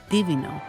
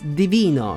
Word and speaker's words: Divino: weird but still correct Divino this is completely wrong it's Divino same stress syllable as Divine in English maybe they wanted to